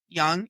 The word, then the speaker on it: Leung: That's how young she was. The first one is May Young. So, it's pronounced young.